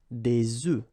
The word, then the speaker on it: œufs: if you listen carefully, the pronunciation is changing quite much, because for the singular form it's œuf, but then for the plural form here it's okay? Des œufs. Des œufs.